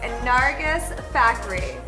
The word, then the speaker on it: Nargis Fakhri: Her name is Nargis Fakhri. Nargis, did I say you said it right.